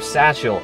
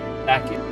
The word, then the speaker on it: Sachiel: So instead of Sachiel, it's actually Sachiel.